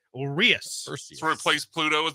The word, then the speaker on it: Urias: It's OO dash re in all capital letters dash AHS in all lowercase. That's Urias.